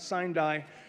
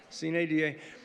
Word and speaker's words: sine die: And it is pronounced, I believe, Sine Die. Am I getting it? Okay. That's correct. Not Sine Die, Sine Die.